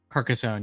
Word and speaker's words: Carcassonne: Karka Park how do you say that carcass Carcassonne yeah America son I've never I don't think